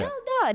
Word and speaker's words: Melda: Melda, that's 2 syllables.